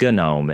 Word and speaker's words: GNOME: So in 1997, Miguel de Kaza and Frederri Gina created the GNU network object model environment or Gnome which is pronounced Gnome in the Linux community.